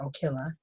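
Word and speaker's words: Ocilla: uh georgia which is and that's how they pronounce it here okila uh filed a lawsuit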